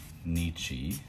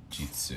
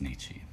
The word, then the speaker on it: 日: For day, say sun / day, the main readings that you're gonna see are gonna be Nichi, not Frederick. And occasionally you're going to see Jitsu. You don't see that as often, but the pronunciation is Nichi.